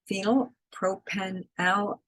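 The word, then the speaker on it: phenylpropanolamine: Phenylpropenalamine, that's how you pronounce it, is contained in some products that are listed there.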